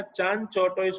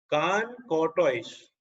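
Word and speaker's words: Chancourtois: Pronunciation में ध्यान रखना, कुछ लोग वो ना चान चौटोइस बोलते हैं, क्या बोलेंगे? कान कॉर्टोइस।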